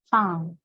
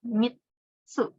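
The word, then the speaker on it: 三: Sang. Di sini cara baca kunnya adalah mitsu.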